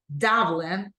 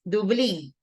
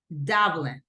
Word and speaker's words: Dublin: Barcelona Copenhagen Dublin right the syllables stress goes in the first one Dublin in Spanish it's Dublin but in English Dublin same thing Paris Paris